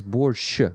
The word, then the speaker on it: borsch: By the way, you actually, the right version to pronounce it is borscht without T. And to actually spell it, Ukrainian version is borscht, and I don't know, for some reason T was added there.